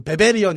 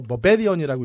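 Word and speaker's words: barbarian: 예를 들어서 베베리언 이렇게 읽는 거 버베리언이라고 읽어야 된다고.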